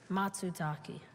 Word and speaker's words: matsutake: because it because it is difficult to harvest matsutaki can you repeat the pronunciation matsutaki or can you repeat the definition a large brownish edible japanese mushroom having firm flesh and a spicy aroma matsutaki matsutake can you repeat the language of origin japanese